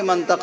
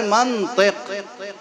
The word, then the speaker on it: منطق: بھی منطق بولتے ہیں۔ اب ہم کیسے سمجھائیں آپ کو کہ منطق غلط لفظ ہے؟ اصل لفظ ہے منطق۔ اب کسی عرب سے پوچھئے کہ منطق کیوں ہے، میم پہ زبر کیوں ہے اور تو کے نیچے زیر کیوں ہے، وہ ایک ایک سوال